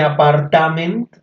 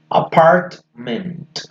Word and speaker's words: apartment: Miren que apartment, miren acá. ¿Miren que no dice apartament? ¿Miren que no está la A? So, you should pronounce apartment.